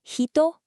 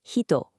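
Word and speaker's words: 人: According to our data, the onomi readings are nin jin and the kunomi readings are hito.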